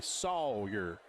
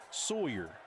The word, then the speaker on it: Sawyer: Say it like you're from the South.